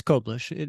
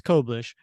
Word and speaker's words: Koblish: really sure is it is it cish or was it kobish and it's kobish you know because I I asked him you know how do you how do you pronounce it and he goes he says oh it's coish and he said and